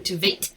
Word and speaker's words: Tveit: pronounced Aaron Tveit, as in like the number 8, for anyone wondering.